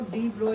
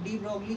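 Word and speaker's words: de Broglie: बच्चों डी ब्रॉगली का pronunciation जो होता है वो डी ब्रोय होता है. डी ब्रोय, BROY, डी ब्रोय. आप डी ब्रॉगली कह सकते हो या डी ब्रोय भी कह सकते हो.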